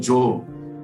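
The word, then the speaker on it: Gjøa: Ele invernou 2 vezes num lugar onde nós passamos, se chama Joe Haven, que exatamente o nome do barco dele é Joe, que se escreve G-J-O-A, o barco do Amundsen, né?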